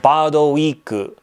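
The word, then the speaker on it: バードウィーク: Speaking of my Japanese abilities, this game, well, it's pronounced Bado Week, which if you think about it, it's English. It sounds like bad week, but it's actually bird week.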